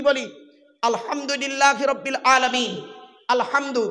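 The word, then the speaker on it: الحمد لله: আলহামদুলিল্লাহি রাব্বিল আলামিন। আলহামদু, মা বোনেরা শুনে নিন, আলহামদু হাই হতি গলার ভেতর থেকে হেটা উচ্চারণ করবেন। আলহামদুলিল্লাহ, আলহামদুলিল্লাহ মানে হচ্ছে সমস্ত প্রশংসা আল্লাহ তোমার।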